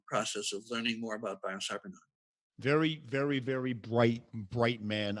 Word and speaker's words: Biocybernaut: That's BIOCYBERNAUT, rhymes with astronaut.